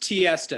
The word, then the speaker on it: Tihista: It's pronounced Tihista. It sounds just like Fiesta.